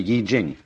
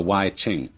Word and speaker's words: Yi Jing: the Book of Changes, called the Yi Jing, not the Wai Ching. I'm afraid that the way that we romanize Chinese words bears very little resemblance to the way they're pronounced.